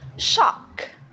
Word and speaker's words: shock: So can you say shock? Shock. Right. It's shock. Shock. Right. Okay. So it's not sock because that they have that's different. So it's shock.